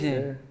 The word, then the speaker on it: PASTELEVISION: PASTELEVISION. Yeah, that's how it's pronounced. PASTELEVISION.